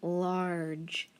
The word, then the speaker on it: large: and what do i know about when g and e are together when g or e are together i'm going to put a dot on it because it's going to make that j sound i don't hear that e so i need to mark it off large very good what